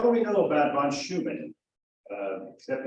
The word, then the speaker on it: Steuben: And I got to thinking, well, what do we know about von Steuben? Except it's hard to pronounce. Actually, it's Steuben, but they've anglicized it to Steuben.